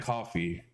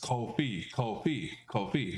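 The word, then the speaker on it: Ko-fi: Yes, Kofi. Okay, not coffee, but Kofi. Got you. Kofi. Kofi.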